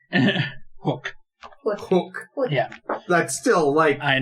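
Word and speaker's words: Houk: Yeah, honestly, the crazy thing that they should have been reporting on is the fact that someone's name was actually Hook. It's spelled H-O-U-K. Hook.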